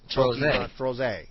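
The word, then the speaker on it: Trozei: Opera's the only way I can figure out how to pronounce Troze. Pokemon Troze.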